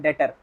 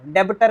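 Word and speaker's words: debtor: क्या कहलाएगा क्या कहलाएगा प्रोनंसिएशन इसका ये नहीं होता प्रोनाउंस एशन होता है डेटर डेटर डेबिटर नहीं होगा ध्यान रखना बस इस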